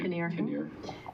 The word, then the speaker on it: Kinnear: Did I say it right? Kinnear, maybe? Kinnear? Yeah, Kinnear.